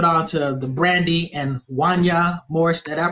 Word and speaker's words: Wanya: to the Brandy and Wanya Morris. Did I pronounce it right, or what is it? Wanya. Oh, see, you just know it sounds too much like Kanye.